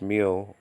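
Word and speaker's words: μυ: I can, mu, sometimes pronounced meal, nowadays pronounced me.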